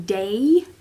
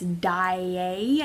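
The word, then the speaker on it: Daaé: through no oh but the guy pronounces Christine's last name wrong unless of the whole musical pronounces her last name wrong so what are you saying de okay but it's die eh I think I'm pretty sure cuz it's Swedish and there's two a's and an accent on the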